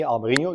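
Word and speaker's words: Albariño: So the Añe, the Mexican Añe, Albarino. You also have it in Portugal, where it's called also Albarino, but it's spelled Nho at the end.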